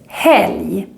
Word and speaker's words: helg: Moving on, the letter combination LG also makes this J sound. For example, in this word, helg.